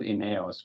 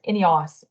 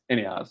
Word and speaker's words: INEOS: company name I say I call it inos but it's any you know we we Deb that it's anyos okay anyos okay okay we actually just